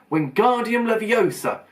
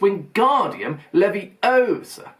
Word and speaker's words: Wingardium Leviosa: "Wingardium Leviosa," he shouted, waving his long arms like a windmill. "You're saying it wrong," Harry heard Hermione snap. "It's Wingardium Leviosa. Make the gar nice and long."